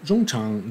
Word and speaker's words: Jung Chang: resources that would just help me do a pronunciation more true to the original for Chinese names. So Zhong Chang grew up in the People's Republic of China